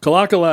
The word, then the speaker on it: Kalakala: sails across ped Town Kaka is correct right Kaka is is the accepted pronunciation at least around here Kaka um before we get